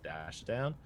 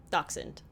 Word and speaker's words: Dachshund: German Shepherd, Pit Bull, Dash Down, Golden Retriever. Dachshund. Dachshund. Mm-hmm. Wiener dog. Oh. Is that how you pronounce that?